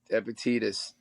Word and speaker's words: Epictetus: Now, I always say this guy's name wrong, but I know you're really into the Stoic philosophers. Epiqrus, Epictetus. Epictetus, who argued the fear of death is a